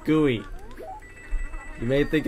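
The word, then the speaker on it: GUI: create whatever gooey I want and yes it's pronounced gooey you may think it's like some goop or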